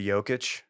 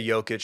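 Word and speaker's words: Jokić: I say Jokic because you know me. Jokic. I've got reference for the Eastern European.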